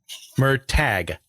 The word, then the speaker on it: Murtagh: yeah check it out was it mer tag or MOG I never could remember how to pronounce it correctly well uh he's oh handed any pronunciation guide puts a pronunciation guide in the back of the book so let me make sure I'm reading it right um this is gonna go on for too long yeah it's okay mer tag merag okay yeah my pronunciations are